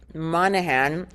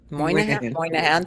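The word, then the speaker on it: Moynihan: He counted Isaiah Berlin and Daniel Patrick Monahan among his friends. Moan Moahan. Thank you. I didn't know how to pronounce that.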